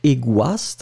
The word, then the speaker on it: égoïste: Don't forget the tréma on the I, because this is the reason why you will pronounce it egoist, but not égoïste, hein. This is the use of this tréma.